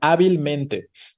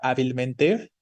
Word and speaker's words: hábilmente: yo les estaba preguntando hay algunas palabras en el español que sí puede parecer que tienen más de una sílaba tónica y esas son las palabras que terminan en mente no como hábilmente si hablamos de esta